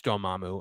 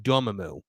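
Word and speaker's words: Dormammu: for finally showing everyone how to actually pronounce doamu and we stopped getting people saying Damu because I hated that I absolutely hated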